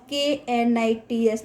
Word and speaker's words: knits: Knits, K-N-I-T-S, knits. Children, इसमें K silent है, हाँ. So its pronunciation is knits.